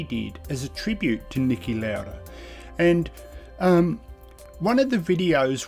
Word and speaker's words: Niki Lauda: Now that's how we would pronounce it in Australia, but I would say Niki Lauda, being of Austrian heritage. And I don't mean that in stirring in any way, that's just how I would have pronounced it.